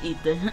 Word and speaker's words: Aether: I know I said it wrong. It's Aether.